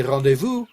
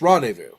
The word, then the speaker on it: rendezvous: Now, I realize in French you say rendezvous with a rolled R and stuff, but it's similar in English, rendezvous, okay?